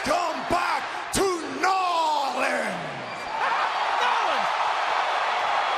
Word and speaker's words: New Orleans: Nolan! That's the correct way to pronounce it, if you're a Cajun.